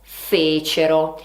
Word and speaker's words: fecero: voi faceste e loro fecero. Ricordate sempre che la terza persona è sdrucciola, quindi l'accento va sulla terzultima sillaba.